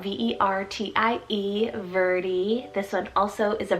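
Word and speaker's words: Vertie: in english meaning ancient nor verdi spelt v-e-r-t-i-e verdi this one also is a virtue name meaning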